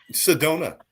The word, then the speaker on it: Sedona: and it rhymes. Sedona. I went to Sedona, had me a Corona Oh my God.